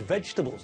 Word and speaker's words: vegetables: Doreen abbreviated the word vegetables, didn't she? Lots of people do this in the UK because fruit has got one syllable and vegetables has got three. Remember, 3 syllables.